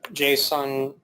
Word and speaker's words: JSON: things will be interoperable so Jason is pronounced JSON JSON schema is basically